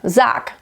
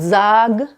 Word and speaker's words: sag: Sag mir, sag. It's not sag, sag. It's not a harsh K, but it sounds a little bit like a soft K instead of a G.